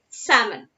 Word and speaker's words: salmon: Here L is silent, so we have to pronounce this word as salmon.